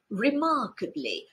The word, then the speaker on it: remarkably: Apparently, inevitably, remarkably, supposedly, ultimately. As you can see, the last one is the only one with the stress on the first syllable. The others have it on the second.